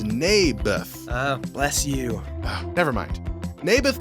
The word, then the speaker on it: Naboth: I like this little Nablers guy. You mean Naboth? Yeah, that's what I said. Mayberf. I think you're saying it wrong. His name was Naboth.